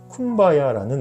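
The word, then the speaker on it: Kumbaya: 노래 중에 하나가 바로 쿰바야라는 노래에요 쿰바야 쿰바야 My Love combi야 쿰바야 말로 콤바야 쿰바야말로 쿰바야 일하면서이 노동요를 부르는 거예요 그래서 쿰바야라는 말은요 원래는 come by here 이걸 이제 흑인식으로 표현을 발음을 한 겁니다 절망만 가득한 마음속에이 메시지는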